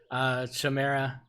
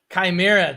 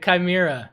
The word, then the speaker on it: chimera: look at the original Chamara my pronouncing that right shamira Tamara I never know how to pronounce things but um what's that called mira chimera thanks holy crap all right this whole time I've been saying Sumeria all right chimera cool that sounds better that actually even sounds